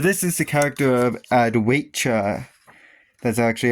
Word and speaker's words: Adwaita: I know I wasn't doing it in the previous parts, but this is the character of Adwaita. That's actually how you pronounce it.